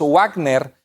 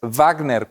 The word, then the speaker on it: Wagner: gran compositor alemán wagner se escribe con w y los que somos latinos o hispanos leemos wágner pero es wagner con velo pronuncia un alemán y así la w